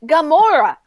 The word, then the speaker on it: Gamora: the only difference is that there's not Oh pronounce it Gamora I don't like this character so why the